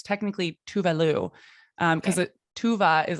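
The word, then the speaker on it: Tove Lo: So she's Swedish and her name pronounced in Sweden is Tuvalu.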